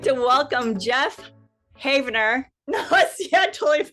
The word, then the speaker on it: Havenaar: And Geoff has a almost exact same spelling, but he pronounces it. Go ahead, Geoff. Havenaar. Havenaar. Okay. I do have some relatives who pronounce it that way, but yeah, it's natural for me to say Havenaar.